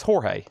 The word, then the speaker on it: Jorge: Jorge. Jorge. That's what I thought. Jorge. J O R J E in Spanish is always Jorge.